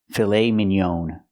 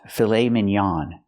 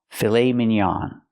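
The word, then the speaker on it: filet mignon: pronounce it filet Minon we don't use the long o for the last vowel I cannot say filet Minon the word is pronounced fil minan we use a more open Sound ah filet minan filet minan not M but minan this is a filet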